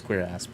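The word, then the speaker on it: cuirass: Yeah, that's actually how you how it's pronounced is queer ass.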